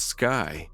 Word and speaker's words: SCCY: is definitely worth considering SCCY pronounced sky is relatively young compared